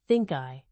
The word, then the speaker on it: ThinCI: The name ThinCI, pronounced ThinkEye, captured the founding vision: